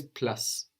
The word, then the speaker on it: plus: in French, only we will have the U sound like in tu, like in you, which is tu, and we know that the consonant on the end of the word isn't likely to be pronounced. So how is plus going to sound in French? Plus. Plus.